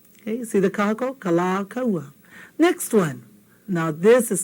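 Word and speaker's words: Kalākaua: I don't know where Kalakaua is, and I don't think he would dig it too much if you called him Kalakaua. I think That's kind of, not nice, not pono, not good. Okay? It's kala kaua.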